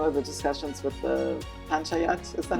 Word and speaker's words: Panchayat: scale, including some of the discussions with the Panchayat, is that how you say it? Yeah. Panchayat.